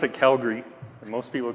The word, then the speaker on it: Calgary: We pronounce it Calgary. And most people call it Calgary, so.